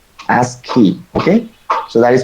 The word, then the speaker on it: ASCII: It is pronounced as S and then KEY, ASCII.